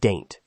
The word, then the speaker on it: Dante: They call it Daint. Rhymes with paint, not with the poet.